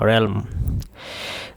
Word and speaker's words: realm: realm of knowledge অর্থ যে জ্ঞানের রাজ্যে, উচ্চারণটা হবে অন্তস্থিকার রে ল ম, realm।